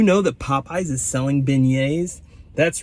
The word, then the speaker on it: beignet: out how many people don't know what a beignet is that's right it's pronounced beignet not big net or bag nut or anything it's beignet and they're very similar